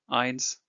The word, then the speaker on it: eins: trying to pronounce this, think of the word by and the I part of by, and that is how you pronounced I in a word. Examples: I, eins, Eingang, Arbeit; egg, one, entry, work.